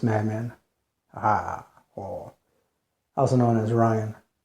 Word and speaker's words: Ryan: course the noisess madman or also known as Ryan r y an not Brian b r i a an as some people mispronounce it the but anyways moving on I